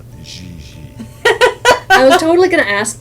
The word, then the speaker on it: JJ: En français, you pronounce G like J and J like G. She may very well be JJ in America, but in France, she is Gigi.